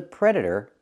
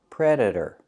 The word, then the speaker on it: predator: the cat is the Predator pronunciation Predator the t is pronounced as a fast D predator predator the cat